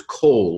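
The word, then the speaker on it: כָּל: It looks like a kamatz, which is an A with a long mark over it. But the word is kol, which has a long O in its normal accented form. And so with all these dashes, the makafs, it loses its accent and goes to a short O.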